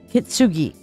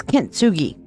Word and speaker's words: kintsugi: now what is katsugi kitsugi I'm saying it wrong I'm sorry what is K kitsugi can anybody tell me what kitsugi is i' I've alluded to it several times what is kintsugi anybody know what it